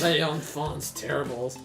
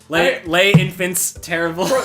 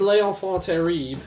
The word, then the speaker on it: Les Enfants Terribles: Les Enfants Terribles. Les Infants Terribles. For the record, I knew it was Les Enfants Terribles because... See, I didn't even say it right when I was For